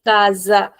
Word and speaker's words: casa: sound of s but this word is kaza. The same letter I'm using but now I'm saying kaza z. Why is it so? Okay guys, quick reminder. When we have the letter S in between two vowels, then the sound is like a Z. It's a strong sound. It sounds like Z.